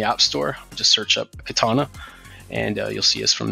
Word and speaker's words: Katana: Store just search up katana and you'll see us from there or you can visit our website at katana MRP com a katana is spelt with a K so it's K 80 and a yes over in the